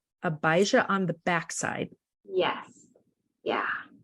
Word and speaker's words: Abijah: I'm struggling with it yeah it's AB abijah long eye long eye and it's the organization is called abijah on the backside yes